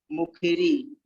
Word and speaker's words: मुखरी: इसमें तीन बड़ी मात्रा लगी है तो इसको री को लंबा खींच देंगे, मुखरी।